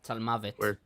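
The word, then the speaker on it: צלמות: Tzalmavet. Where Tzalmot is the... Tzalmavet. Well, it's a different form, right? Of the same word? Here is... Specifically here, it's Tzalmavet. Okay. It's the pronunciation of the Masoretes.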